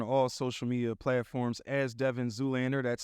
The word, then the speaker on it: Devyn Zoolander: to let you all know my name is Devin Zoolander you can find me on all social media platforms as Devin Zoolander that's spelled d-e-v-y-n-z-o-o-l-a-n-d-e-r they call me Devin Zoolander what's